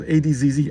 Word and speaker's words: adz: wood and pronounced as adzz adds funny ads. Sound it out. It has one just one syllable starting with short a sound like in cat.